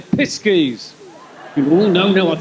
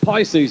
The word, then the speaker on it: Pisces: can always say i piskeys you'll find that's pronounced pisces now it's pesky's as